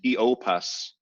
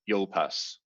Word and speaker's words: Iopas: If you see U next to I in Latin, 95% of the time, it's going to be 2 syllables. There is a diphthong, but it's like hen's teeth. So they aggressively form it when they shouldn't. And so in the second line, proluit, and iopas, not iopas.